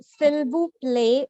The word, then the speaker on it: s'il vous plaît: So s'il vous plaît, the l sound has to be pronounced because when I hear it in the movies, they say s'il vous plaît.